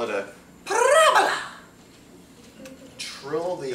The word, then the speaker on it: parabola: Make sure you pronounce that correctly. It's parabola, not parabola.